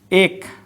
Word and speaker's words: এক: যেমন এটা দেখো, আমরা লিখি এক, বলার সময় কি বলি, এক। আমরা লিখি অ্যাসিড, আমরা লেখার সময়, আমরা উচ্চারণের সময় বলি অ্যাসিড।